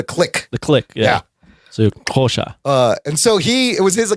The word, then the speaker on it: Xhosa: No, it's not Xhosa. How do you say it's not called Xhosa. It's called, it's called a Kosha. There it is. There's a click. Kosha. There's a click. There's the click.